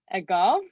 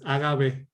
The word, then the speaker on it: agave: um is and uh i don't know how to say this agav i think is used to produce fibers for weaving doormats carpets and dart boards and these are pollinated by bees okay it's agave uh okay last one